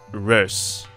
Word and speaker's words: Reus: today we're going to take a look at rose i'm going to pronounce it like that in the rare event that i will use its name directly because this is made by a dutch company and that word you